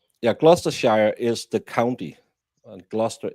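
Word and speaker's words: Gloucester: Glusters is the county. Glchester. No, it's not Glustchester. It's spelled Glustchester, but it's Gluster.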